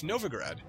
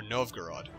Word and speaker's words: Novgorod: right now oh there there at war of novigrad or Novgorod stop pronounced Novgorod holes Novgorod also I think I'm